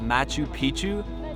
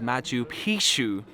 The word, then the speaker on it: Machu Picchu: actually learned yesterday on our walking tour that Mathieu Picchu means old penis the correct pronunciation is Mathieu pshoo which means old mountain so don't go around